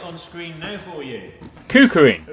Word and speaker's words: KuKirin: Should have really learnt the name before I started filming, but we shall research it and pronounce it on screen now for you. KUKIRIN.